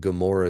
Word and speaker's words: Gomorrah: But Gomorrah is another one where the in makes the G sound at the beginning.